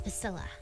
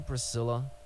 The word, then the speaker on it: Piscilla: It's Piscilla. Okay. Are you sure you don't mean Priscilla? Do I look like the kind of person who can't correctly pronounce their own name? It's Piscilla!